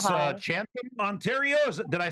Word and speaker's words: Chatham: Chatham, Ontario. Did I say it right? Chatham, yes.